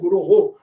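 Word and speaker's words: गुरोः: Mangal Arati line that it is not Vande Guru Sri Charana, it is Vande Guroho.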